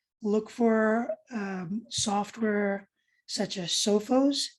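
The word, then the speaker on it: Sophos: ones out there look for software such as sofos it's spelled s-o-p-h-o-s look for malware antibites those are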